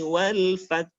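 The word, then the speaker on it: وَالْفَتْحُ: Jadi jangan lupa untuk menampakkan hak walfat. Fat. Jadi bacanya idza jaa nasrullahi wal fath.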